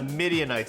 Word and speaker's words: Midianites: correct might have been midianites the midianites correct it's a tough one because it rhymes with Israelites the midianites is the correct answer question number two we're